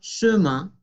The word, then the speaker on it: chemin: manera que esto y esto, es la misma pronunciación, c'est un, con conexión, c'est un chemin, chemin, la E francesa, chemin, qui mène au ciel.